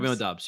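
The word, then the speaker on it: Doubs: can never say his name is it dubs doobs dubs dubs yup dubs dubs yeah oh yeah throw up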